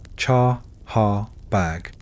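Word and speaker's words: Chahar Bagh: We are talking about the Chaha bag, pronounced chahar bag.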